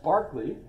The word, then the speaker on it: Berkeley: about Barkley today and by the way it's pronounced Barkley how would you pronounce that Berkeley probably so Barkley uh is how it was pronounced